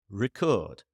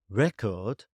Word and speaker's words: record: For example, the word record can be a noun or a verb depending on which syllable is stressed. Record or record. Record is a noun. Record is a verb.